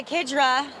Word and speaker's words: Kidra: Maggie and AAA AA kidra the funny name tus it's taken a long while to get it sealed ironed out on the correct pronunciation but it is kidra uh according to Richard